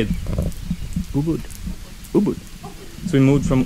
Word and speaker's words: Ubud: Ubud.